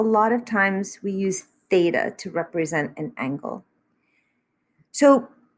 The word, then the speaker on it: theta: This little symbol here is pronounced theta. It is Greek.